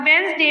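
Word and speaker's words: Wednesday: अब वनसडे में D silent है।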